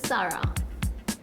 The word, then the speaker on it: Zara: Apparently Zara is to be pronounced as Sarah.